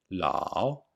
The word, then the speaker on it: lǎo: the pronunciation of law if you listen carefully lao you can hear long ah and a short o lao the o is very short and some people only hear the ah la but there is